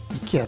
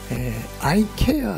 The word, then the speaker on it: IKEA: がありますアメリカではですねいきあって言わないんですよねアイケアって読むんですないキーガーって